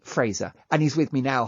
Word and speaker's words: Fraser: As simple as it is, it's Fraser, like the House of Fraser.